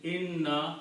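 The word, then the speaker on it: إنّا: So when we combine these two, we should be pronouncing inna, na, three noons, okay?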